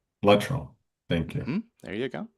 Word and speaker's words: Luttrell: I've heard it pronounced a couple different ways. It's Luttrell. Luttrell.